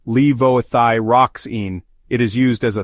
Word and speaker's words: levothyroxine: bleeding risk levoxine commonly known as Synthroid is pronounced levothyroxine it is used as a thyroid hormone replacement